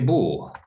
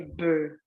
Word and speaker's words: beau: Donc d'abord la prononciation ici c'est O.